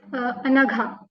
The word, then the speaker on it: Anagha: Okay, so Anagha, before we begin, please tell me if I'm pronouncing your name right. Yes, Anagha.